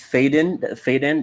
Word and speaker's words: Foden: Just before Joe gets there, just before Joe gets there, I think it's Faden. That's how you say his name.